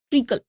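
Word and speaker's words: treacle: हैं ठीक है इट ट्रिकल बल्क इसका स्पेलिंग जो रहता है वो टी आर ई ए सी एल ई इसका जो प्रोनंसिएशन है वो क्या है ट्रिकल है तो शीरा को राब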